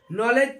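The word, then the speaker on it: knowledge: डब्लू एल डब्लू एल ई डी जी ई नॉलेज पढ़ते हैं ऐसे देखते हैं कि एन के पहले यदि के आता है तो साइलेंट होता है के एन आई एफ ई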